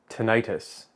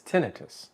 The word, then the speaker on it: tinnitus: it away first of all thank you for pronouncing it correctly oh did I because one of my pet peeves is tinnitus but it's tinnitus oh so well done thank you and uh